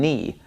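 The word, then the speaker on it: νι: have me and knee knee looks just like an English lowercase V okay so when you're reading something in Greek and you see this letter you're gonna want to pronounce it like a V sound but it doesn't make a V sound it makes an N sound this is knee knee so you got to get used to pronouncing this as an N me this letter makes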